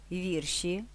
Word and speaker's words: вірші: запам'ятати нескладно Отже занотовуємо наголошуємо перший склад у словах загадка вірші випадок подруга разом начинка